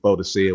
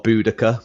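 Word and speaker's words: Boudica: kind of days but Bodhisa would be be one of or Buudaca depending on how you want to pronounce it.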